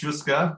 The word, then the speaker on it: Jouska: When I first saw the word Jouska, am I pronouncing that right as well? It's Jouska, but it's fine.